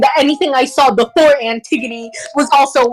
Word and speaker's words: Antigone: And 2, Bri, when it comes to Greek names, you tend to butcher them completely. Antigone. What is Antigone? It's Antigone, you stupid hack!